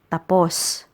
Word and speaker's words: tapos: right is pronounced as tapos tapos the stress is on the second syllable tapos tapos means done